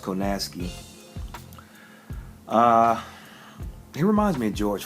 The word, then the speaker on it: Kownacki: that's what it did Adam Coe nasty even though it's it looks a certain way is pronounced Kanaskie he reminds me of